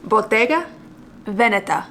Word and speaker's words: Bottega Veneta: And I was also told by my husband that it is pronounced Bottega Veneta, because apparently Veneta is an area in Italy. Like it's a little, I'm gonna say this wrong, maybe like a city or something.